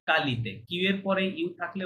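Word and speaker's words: qualité: পেন্দ না পন্দ পন্দ পন্দ অয়ালিতে কোয়ালিতে না কালিতে কিউ এর পরে ইউ থাকলে ওটা নরমালি সাইলেন্ট থাকে ওকে কিউ এর পরে থাকলে তাহলে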